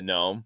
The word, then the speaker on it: gnome: but but it's but the g is silent and The Gnome so it's I don't